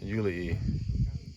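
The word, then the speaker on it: Iuli: So you gotta pronounce everything. Yeah. There's no just swallowed words. Yeah. There's no. I mean, swallowed letters. Nothing Yeah. is silent. So Yuli.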